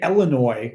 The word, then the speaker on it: Illinois: it when saying that but when people say Illinois I'm like n no no no thank you